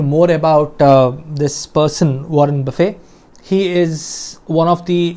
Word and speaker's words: Buffett: Although the spelling is Buffett, it is pronounced as Buffett, Warren Buffett.